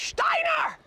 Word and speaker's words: Steiner: Actually, the correct pronunciation is Steiner! You have to say it like that.